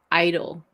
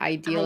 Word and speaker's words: Ideal: It says that they pronounce the name Idol. So this whole time I've been saying it wrong. I've been saying it Ideal as Ideal.